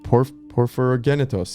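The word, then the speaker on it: Porphyrogennetos: The Byzantine emperor and historian Constantine VII, Porphyrogenitos. Wait, let's try this again. Wait, Porphyrogenitos.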